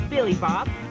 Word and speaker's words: Billy Bob: Now, folks, my name is Billy Bob, and that's spelled with 3 B's, 2 L's, an I, a Y, and an O. And you can remember my name because it rhymes with Jibby Job and Flippy Flop.